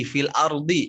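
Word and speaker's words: في الأرض: Ya, sama-sama di fil ardi ya. Nanti tinggal diulang-ulang rumusnya tadi, diucapkan dulu harokat kasrohnya, kemudian nanti seakan-akan ditahan do-nya. Fil ardi, fil ard. Nah, pas mau i-nya ditahan. Fil ard gitu, ya.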